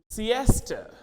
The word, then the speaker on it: siesta: we use in standard similarly where a word s-e-i-s-t-a this is Siesta Siesta Siesta now you